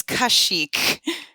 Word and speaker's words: Kashyyyk: Thank you for making me not have to pronounce it before you. It is Kashyyyk.